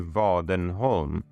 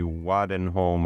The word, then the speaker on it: Wadenholm: world so my name my surname is actually vodden home which written in English or American pronunciation would be wadden home or waden home or something like that and so wadden home